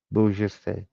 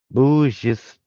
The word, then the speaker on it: bourgeois: Ooh, bourgeois. Bourgeois. Noble and generous act. Yeah. I figured out what the meaning was. The pronunciation.